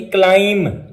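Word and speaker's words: climb: मिसाल के तौर पर हम देख लेते हैं क्लाइंब, ये क्लाइंब लिखा होता है लेकिन बी आखिर में आ रहा है और उससे पहले एम आ रहा है, इसलिए हम बी को साइलेंट करेंगे, खामोश करेंगे, पढ़ेंगे नहीं, लिखेंगे जरूर। तो ये इसकी प्रोनाउंसिएशन हो जाएगी क्लाइम, क्रम, डम, काम।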